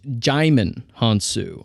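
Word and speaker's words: Djimon Hounsou: we talked about before uh his name is pronounced jimon hansu I I pronounced it gon I and I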